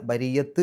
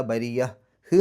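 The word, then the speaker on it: بريّة: അവസാനത്തെ ആ ഒരു താഇന് ഹാഇൻ്റെ ഉച്ചാരണം കൊടുത്തിട്ട് നിർത്തുക. അതായത് സുക്കൂനുള്ള ഹാഇൻ്റെ ഹ് എന്നുള്ള രൂപത്തിൽ. ബരിയ, ബരിയ, ബരിയത്ത് എന്നുള്ള രൂപത്തിലല്ല, ബരിയ ഹ് എന്നുള്ള രൂപത്തിലാണ് അവസാനിപ്പിക്കേണ്ടത്.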